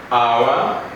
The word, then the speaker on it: hour: honest is very honest then we say our hour then here she is the heir to the